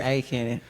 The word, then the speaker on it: Aiken: I knew I was going to pronounce that wrong. It's Aiken. And it's close by, it's close to Augusta, like the Masters.